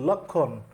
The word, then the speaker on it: লক্ষ্মণ: যেতে চাচ্ছিলাম সেটা হচ্ছে যুক্ত ব্যঞ্জনের সাথে যদি মফলা যুক্ত থাকে তাহলে সেখানে ময়ের উচ্চারণ হবে না। যেরকম আমরা যদি লক্ষণ, লক্ষ্মণ থেকে যেটা লক্ষণ